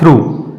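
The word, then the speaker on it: through: भी जी एच आर तो इसका सही उच्चारण हो जाएगा थ्रू थ्रू जीएच इसमें साइलेंट है क्योंकि शब्द के अंत में आया है तो ये साइलेंट है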